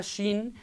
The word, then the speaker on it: Shin: fuego de hecho la la letra Shin es como una fogata tiene esa forma y su pronunciación es sh como la letra dominante